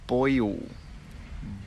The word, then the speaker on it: boil: It's pronounced boil. Boil. Boy il. Boy il. It's like there's a y in the middle.